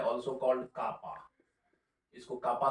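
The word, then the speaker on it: κ: बड़ा ही popular Latin name है, also called कापा। इसको कापा से भी हम लोग कई बार प्रोनाउंसिएट करते हैं।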